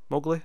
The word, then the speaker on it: Mowgli: How do you pronounce it? Mowgli.